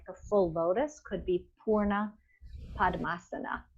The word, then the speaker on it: Purna: So that is spelled P-U-R-N-A, but really it would be P-O-O-R-N-A if we were writing it like from the Sanskrit, Purna, a double O, a long O.